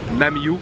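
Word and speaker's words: Nam Du: qu'il lui comme ça mais ça se prononce n'a mieux donc j'ai vraiment vraiment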